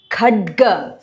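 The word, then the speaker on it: खड्ग: Katyayani Mahamaye Khadga kha stress Bana N capital tongue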